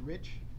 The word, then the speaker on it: Reich: my name correctly because the last name is actually pronounced rich and the easy way to remember this is the E is silent it's the only part